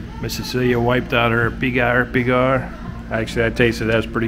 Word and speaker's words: pigar: And then we're just waiting on Miss Cecilia's pigar. There's the pigar. Pigar. I guess the pronunciation.